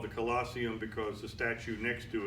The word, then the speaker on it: Colosseum: Colosseum got its name and collosseum is spelled co l o SS e um we pronounce it Colosseum CEO L o SS e